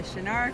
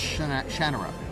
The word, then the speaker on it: Shannara: so many years, that if you talk about the book, it's Shannara. See, I almost said it wrong. It's the Shannara Chronicles. If you're talking about the TV show, then it's Shannara.